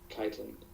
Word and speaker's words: chitin: Are you sure you're pronouncing that right? Chitin? It's It's chitin.